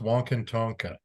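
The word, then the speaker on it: Wakan Tanka: It's pronounced Wankantonka.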